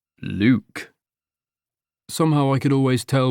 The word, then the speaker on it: Luc: Well, for starters, it's Luke. Luke. Somehow, I could always tell when people pronounced it with a K and an E.